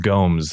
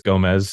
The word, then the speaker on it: Gomes: My last name is pronounced Gomes. A lot of people think it's Gomez, so it's okay if that's what you thought. I think it's Portuguese. I'm not sure, but it's Gomes like Holmes with a G.